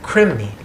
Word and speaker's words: krimni: They call them krimni. K-R-I-M-N-I is how it's spelled when it's put in English, but obviously this was a Sanskrit word.